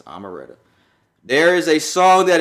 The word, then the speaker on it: Omeretta: I think it's Omeretta. I thought it was Omeretta. It's Omeretta.